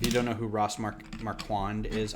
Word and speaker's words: Marquand: who ross marquand is i thought it was mark han that's marquan which i think is a it's his name i can't badmouth how he pronounces his name if that's how it is but i feel like that's the lazy way to say that name like i want it to be french and say mark call or marqua but